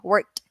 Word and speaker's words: worked: Pero yung worked, you don't hear D, right? You hear T, worked.